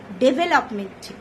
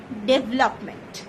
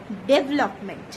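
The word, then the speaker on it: development: আমরা অনেকেই বলি ডেভেলপমেন্ট, এটা কিন্তু একদম বেঠিক। সঠিকটা হলো ডেভেলপমেন্ট, ডেভেলপমেন্ট। তাহলে আজ থেকে আর ভুল উচ্চারণ একদম করব না, সঠিকভাবে উচ্চারণ স্টার্ট করে দেব।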